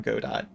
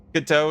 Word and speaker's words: Godot: Godot is the technically correct way to say it, but you're not fucking French, so you'll always call it Godot.